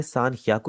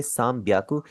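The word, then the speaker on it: 三百: इसी तरह यहां पर इसे सानिया याकू आप कभी भी नहीं बोलेंगे। आप इसे बोलेंगे साम ब्याकू।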